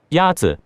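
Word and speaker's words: 鸭子: Yazi Is pronounced with a first tone. In Mandarin, there are 4 tones, which are essential to distinguish the meaning of words. The first tone is a high, level tone.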